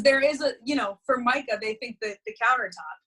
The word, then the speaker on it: Formica: have you dad and your mom but Mariah for Micah you know that was but Mariah formica sounds perfect don't even blame people because there is a you know for Micah they think that the countertop you know right